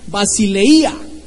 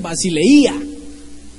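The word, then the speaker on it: βασιλεία: 932, que se pronuncia basileia. Creo que hasta hay un grupo así que se llama Basilea, no, pero ese es basileia, con tilde en la i.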